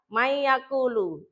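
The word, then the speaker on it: مَن يَقُولُ: Nah, yang man yaakulu dibaca may yaakulu.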